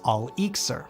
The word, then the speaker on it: elixir: For the Islamic scholars, transmutation could be accomplished through different kinds of elixirs, a word whose Arabic origins become obvious when you swap the E for an A and pronounce it as al-iksir.